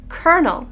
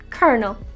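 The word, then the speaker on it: colonel: the next word is pronounced kernel with the l becoming an r sound fun fact this word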